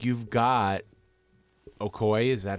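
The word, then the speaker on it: Okoye: the thing looking at this like you've got okoy is that how you say it akoya yeah okoya you've got her they don't ever do anything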